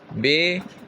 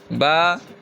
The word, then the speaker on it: ب: تلفظ سے پرہیز کریں، یعنی بے، تے، سے، ہے، خے، توئیں، زوئیں وغیرہ ہرگز نہ پڑھے، بلکہ با، تا، سا، حا، خا، تو، و پڑھیں۔ تیسرے نمبر پہ کیا لکھا ہوا ہے؟